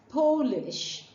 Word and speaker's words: Polish: a visitor from Poland you would not refer to them as polish but as polish rhyming with poor rhyming word go polish